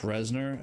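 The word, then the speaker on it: Reznor: are really impeding on there we go oh resner and yes it is pronounced resner as in as after Trent resner the uh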